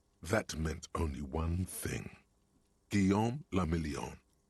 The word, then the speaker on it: Guillaume le Million: Guillaume le Million. I mean, If it doesn't rhyme, You're not pronouncing it right.